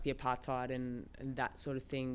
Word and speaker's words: apartheid: That's what apartheid.